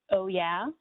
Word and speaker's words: OWYA: The program is called the Offshore Wind Youth Action Program, pronounced OYA for short.